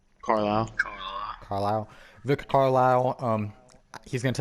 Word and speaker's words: Carlisle: Carlisle.